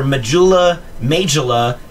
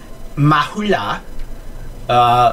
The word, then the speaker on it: Majula: This is, depending on your pronunciation, this is either Majula, Mahula, or come up with your own pronunciation.